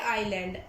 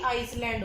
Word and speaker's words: island: Fourth है आइलैंड, ISLAND। बेटा एस आता है इसके अंदर, लेकिन एस बोला नहीं जाता, एस साइलेंट रहता है, आइलैंड होता है ना कि आइसलैंड होता है।